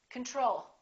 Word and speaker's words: control: control we say control second syllable is stressed the first o is reduced repeat after me control the next one is